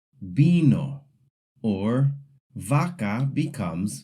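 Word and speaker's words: vaca: B and V make the exact same sound. So, when you see the word bino with a V, you actually pronounce it like it has a B. Bo or vaka becomes baka.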